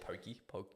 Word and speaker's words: poke: Is that how you say it? Poke? Yeah, poke bowls.